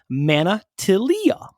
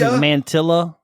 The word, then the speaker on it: Manatilia: But thankfully, Manatilia sent us manna, like the bread or heaven, or like the bread from heaven in the Bible. Right. Till, like until, or like the till of the grocery store. E rhymes with we or tree. Wow. And then A, like the A in a lot.